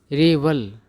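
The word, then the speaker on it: revel: जाता है आगे है रिवल इसका मतलब होता है आनंद लेना मौज करना और उच्चारण पर ध्यान देना है इसका उच्चारण क्या होता है रे वल ठीक है आगे एक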